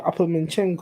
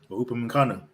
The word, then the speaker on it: Upamecano: Even that was it Uppermanchenko, whatever his name is, from Bayern. Upamecano.